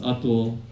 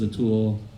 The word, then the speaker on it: Atul: It's pronounced Atul, but everybody says Atul.